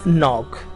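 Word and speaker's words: knock: Topic दिया हुआ है द के इज साइलेंट इन नॉक, ना। जो वर्ड नॉक है उसमें के लेटर जो शुरू में लिखा हुआ है वो साइलेंट होता है, उसको प्रोनाउंस नहीं किया जाता।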